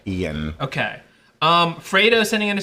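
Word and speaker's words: Ioan: It's I-O-A-N, I believe he's Welsh. I think it is like, but I do think you pronounce it like Ian.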